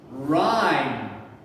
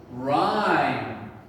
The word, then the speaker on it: rhyme: vowel i so rhyme and the e is silent so be careful let's practice teacher first u second let's go rhyme rhyme remember the sounds